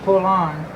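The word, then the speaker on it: Poulan: pulling everybody calls it Pullman people they call it all kind of stuff but I reckon the great pronunciation is pull on like p-u-l-l -o-n like you're pulling on your boots yeah what not let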